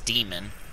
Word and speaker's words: daemon: troop type daemon construct somebody said it's demon but it's spelled d-a-e-m-o-n why don't they just spell it d-e-m-o-n if it's demon what's up with the a that's why i say damon i know i'm probably wrong and it's like oh it's from a different country or a different language